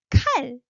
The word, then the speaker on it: 칼: And then 칼, remember? K sound, okay? Rising, burst of air.